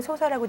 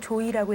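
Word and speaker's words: 召史: 사실 이게 한자로는 소사라고 돼 있지만 한글로는 조이라고 읽어야 되는데 이조이가 살고 있죠.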